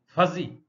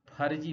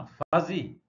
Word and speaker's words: fuzzy: नाम ले सकते हैं, FUZZY, फजी, फर्जी मत बोलना, फजी।